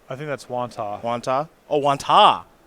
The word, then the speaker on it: Wantagh: Is that Wantagh? I think that's Wantagh. Wantagh? Oh, Wantagh. The G silent? Probably.